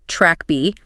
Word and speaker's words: TrkB: of neurons called the TrkB receptor, pronounced track B.